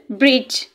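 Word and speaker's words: bridge: Here D ड is silent ब र ई ज ब्रिज.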